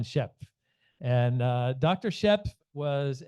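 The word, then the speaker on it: Schöpf: this is Dr schop uh Shep my German friends tell me it's uh pronounced Shep and uh Dr Shep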